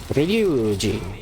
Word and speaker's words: Ryuji: Ryuji. Gotta be able to roll your R's.